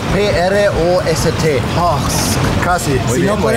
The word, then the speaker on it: Prost: Vamos a ver si tenemos puedes pronunciar host. P-R-O-S-T.